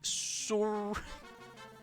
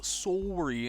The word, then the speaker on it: sorry: the whole sorry, and the Canadian pronunciation is sorry versus saying sorry. It's a thing to do with Canadians versus Americans and the way they pronounce, like, OUs. It's like, or OUs and O's, right? Canadians kind of go up, so, whereas Americans go down, so.